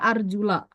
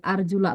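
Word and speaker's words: أَرْجُلَ: Allah wa arjulakum arjula ingat nih Ini bacanya arjula kalau misalnya dia kaki ini diusap harus wajuli karena di sini biruusi kasr ini dalam ilmu nahu namanya Jadi arjulakum dibacanya Fatah nih arjula lamnya dibaca Fatah karena dia matuf kepada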